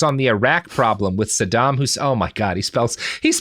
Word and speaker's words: Saddam Hussein: Having written numerous treatises on the Middle East for various publications, his predictions on the Iraq problem with Saddam Hussein.